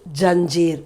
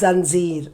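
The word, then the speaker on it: ज़ंजीर: The nukta, we say that as nukta, so it has a dot, but in Hindi we have changed it to janjeer, but otherwise it is zanjeer, the exact pronunciation.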